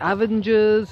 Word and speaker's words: Avengers: saying oh this is really nice film the avengers' and I'm thinking what are the avengers' and then I realized they were talking about the Avengers but I'm a teacher and I'm supposed to